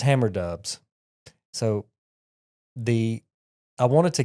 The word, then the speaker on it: Hammer Dubs: me the the name so hammer dubs and I'm gonna spell it it's h a m m e r du BS some people say hammer does so uh my son